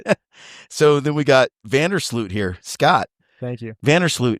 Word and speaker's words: Vander Sloot: We just got back from Europe last week, and they told me I say my name wrong. So I say Vandersloot, but it should be Vandersloot, apparently, according to them.